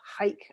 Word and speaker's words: Haich: You remember how you and I read the book, The Initiation by Elizabeth Haik, I think is how we pronounce it, because she was German.